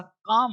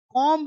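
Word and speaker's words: comb: अब एम के बाद टी से पूर्व बी प्राय साइलेंट होता है। अब ये जो एम के बाद बी इसे बॉम्ब नहीं पढ़ते। बॉम्ब इसे पढ़ते हैं बॉम्ब। बॉम मतलब बम टॉम नहीं टॉम समाधि कॉम्ब नहीं कॉम कॉम बम टॉम कॉम लम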